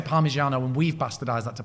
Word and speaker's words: Parmigiano: THEY'RE QUITE FAMOUS FOR having O's at the end of the word.